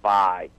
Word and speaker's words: Vay: You're actually mispronouncing it, and I always have called it Bay as well. But the announcer in the open and cinematic actually pronounced it as Vi. So, okay. But, yeah, it's one of the old. It's on Sega CD. Mm-hmm. Okay. Okay. Is it spelled V-A? What? Yeah, it's V-A-Y. V-A-Y. The A is silent, apparently.